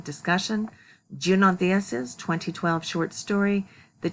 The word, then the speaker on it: Junot: Okay, and speaking of that, Diaz's first name is Junot. It is not Juno or Yuno, it's Junot is how he pronounces it, in the kind of Spanish from the Dominican Republic.